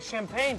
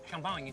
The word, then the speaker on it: champagne: You're adding champagne to the mojito. Yes, the French mojito. It's good, huh? Champagne. Champagne. Champagne. Oui, champagne. Champagne. Champagne. Champagne. You say champagne. And we say it like this.